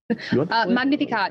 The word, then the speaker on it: Magnificat: Magnificat. It's Latin.